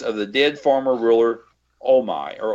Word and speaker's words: Omai: Tazar leaves Gahan and Tara in the rooms of the dead former ruler Omai, or Omei. It's spelled O-M-A-I, and I'm going to try to be consistent and call him Omei.